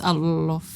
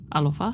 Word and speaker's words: alofa: Hoeno, I'm going to take a wild guess and assume it's alofa. I want to say fa. Alofa. Alofa.